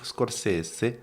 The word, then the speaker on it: Scorsese: Mais non, c'est vrai qu'avec Scorsese, c'est la vraie prononciation. Martin Scorsese.